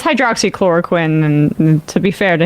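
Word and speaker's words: hydroxychloroquine: was referring to also he just didn't know how to pronounce it when he said like hydrochloride or something I mean it's hydroxy chloroquin and to be fair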